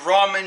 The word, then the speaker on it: ramen: way of cooking instant ramen noodles it's not ramen noodles it's ramen noodles that's how you say it correctly so I'm going to